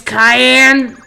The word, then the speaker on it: Cayenne: You say your name is Cayenne? Yes, it's pronounced like the pepper.